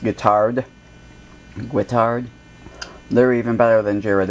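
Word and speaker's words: Guittard: I also like the I think it's pronounced guitard they're even better than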